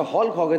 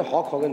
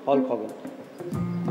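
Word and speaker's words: Hulk Hogan: अच्छा, हॉल्क हॉगन है, लोगों ने हॉक हॉगन बोलते हैं, एल साइलेंट नहीं है, हॉल्क हॉगन।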